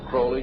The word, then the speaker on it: Crowley: be have his name pronounced crowley to rhyme with holy and the satanist today